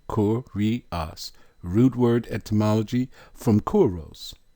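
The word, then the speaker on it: κύριος: of speech masculine noun pronunciation cor ri us root word etymology from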